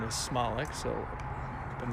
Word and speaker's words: Smolik: We learned today that the proper pronunciation is Smolik, so I've been mispronouncing Dan's name for a decade.